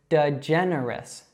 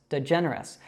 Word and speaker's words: DeGeneres: Now, maybe if you're French, you might want to pronounce this like it would be in French, but we would actually say this DeGeneres. DeGeneres. So that has 2 schwas and 2 short e's, just like her first name.